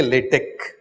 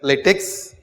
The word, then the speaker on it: LaTeX: LaTeX, but then it is not X, it is kappa. So we say LaTeX. Okay, spelt latex, pronounced LaTeX.